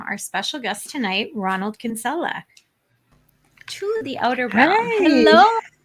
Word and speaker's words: Kinsella: michelle hello amelia hi oh i just love the way you say my name in the british way it's not spelt in the italian way so it's it's just